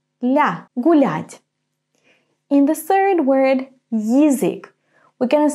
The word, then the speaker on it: язык: In the third word, язык, we're going to say Y and then и. Ї, язык. Язык. The beginning sounds a little bit similar to the English word yield. Ї, yield, язык.